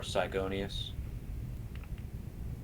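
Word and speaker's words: Psygonius: The Mage General's name is Psy or Sigonius. Is that CY? It's a PSI or PSY, whatever you want to put it. Gonius. I'm gonna spell it like that, like gaseous, but gonius.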